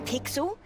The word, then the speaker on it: Pixel: is not weird guy I'm pixel it's easy to remember because it rhymes with pickle so it does I'm